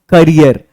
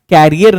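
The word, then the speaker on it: career: ही is making progress in हिज करियर। कैरियर नहीं पढ़ते, करियर पढ़ते। ये हम लोग एक बहुत बड़ी गलती करते हैं, कैरियर बोलते हैं। इंग्लिश में कैरियर नहीं, उसकी करेक्ट प्रोनाउंसिएशन करियर होती है।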